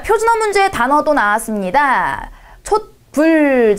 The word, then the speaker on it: 촛불: 촛불. 자, 이거는 네, 읽을 때 촛불이라고 읽죠.